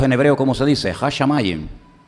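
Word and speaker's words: הַשָּׁמַיִם: Hashamayim. Hashamayim, los cielos y la tierra.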